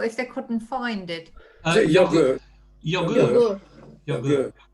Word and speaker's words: yogur: Yogurt. Yogurt. So it's spelled the same, just pronounced different. No T on the end.